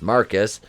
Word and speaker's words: Marquise: she has her brother marquise pronounced marcus to thank for it which